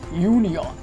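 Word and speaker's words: union: সেটা হচ্ছে মূলত ইউনিয়ন, শব্দের সম্পূর্ণ উচ্চারণটা আমাদের ইউ এর মতো হয়ে যাওয়ায় এখানে অ্যান না বসে এ ব্যবহৃত হবে, এ ব্যবহৃত হবে।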